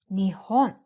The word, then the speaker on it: Nihon: is an interesting fact Japan in Japanese are pronounced in two ways one is Nippon and the other is Nihon so there are two